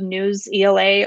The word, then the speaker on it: Newsela: be a use of news ela or newsela it's pronounced differently wherever you are which is um has